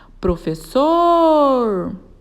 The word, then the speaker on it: professor: Professor. A sílaba tônica dessa palavra é o sor e ela está na última sílaba da palavra.